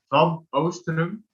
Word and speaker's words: Oostrum: The Dutch pronunciation is Van Oostrum.